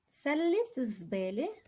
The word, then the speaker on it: سلة الزبالة: Notice over here, we vocalize the ta because we have a word after. But normally if it's on its own, سلة, I'm not going to pronounce the ta, but I have another word after. And in this like إضافة or genitive construction, we're going to say سلة الزبالة.